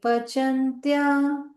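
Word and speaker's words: pacanty: Ye Pachantya Ye Pachantya Tmakaranat. Makarana. Okay, so you noticed again with it, this is cha. When it's written C, we will pronounce cha.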